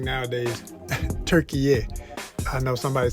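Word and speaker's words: Türkiye: So they're trying to, add this little accent, this little extra syllable to rebrand the entire country.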